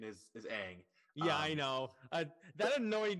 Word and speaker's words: Aang: going off the movie uh his the actual pronunciation is is Aang yeah I know that annoyed me when I